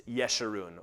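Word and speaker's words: Jeshurun: also by the way it's always a soft J in Hebrew they have no ja sound it's yeshirun or yerushalim or yaakov but just so you know that's why I pronounce it that way and what follows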